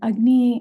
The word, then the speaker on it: agni: This word ugnney, it's spelled a g n i ugnney. And ugny is translated as that digestive fire.